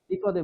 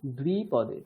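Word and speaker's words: द्विपदे: শন্ন অস্তু দ্বিপদে সন্নো অস্তু দ্বিপদে দ্বিপদে বলবেন না, কি বলবেন? দ্বিপদে। ঠিক আছে, এখানে কি আছে? দ্বিপদে, দয় বয় ও হ্রস্বইকার। ঠিক আছে, শন্ন অস্তু দ্বিপদে সন্নো অস্তু দ্বিপদে দ্বিপদে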